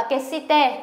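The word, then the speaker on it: 決して: Kesite, đây đọc là kesite, cũng là nhất định này.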